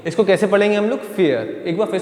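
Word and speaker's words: vier: Rule याद रखो तो जब ये किसी के बीच में आएगा ठीक है तो इ जैसी आवाज आएगी अब ये फी हो फाऊ की दरवाजे से फियर कैसी आवाज आएगी?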